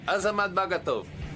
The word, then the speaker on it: Azamat Bagatov: Yeah, Azamat Bagatov.